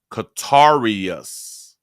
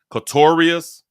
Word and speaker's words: Katorius: Oh, so that's how his name's supposed to be pronounced. Katorius. Katorius. In the beginning, they said it as if it was a female name, or a girl name.